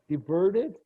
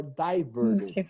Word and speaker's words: diverted: But both pronunciations are perfectly okay, even in American English, diverted or diverted.